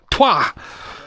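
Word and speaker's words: trois: Twah.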